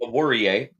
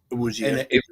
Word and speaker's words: Awuzie: Obi Awurie of the Bengals. Awuzie. Awuzie. There's a Z in there. Somebody told me it was an R, but okay.